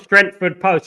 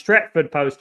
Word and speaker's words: Stretford Post: game I would say my name is not strengthford post it's stretford post mate not strengthford post